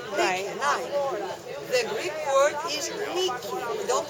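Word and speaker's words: Νίκη: The Greek word is Niki. We don't pronounce I.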